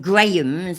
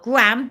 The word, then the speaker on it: Graham: __ ] uh Golden Grahams and cinnamon Grahams yeah it's not gram it's Graham I love you all